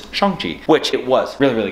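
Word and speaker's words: Shang-Chi: been saying it wrong we say shangji it is not it is chongchi which it was really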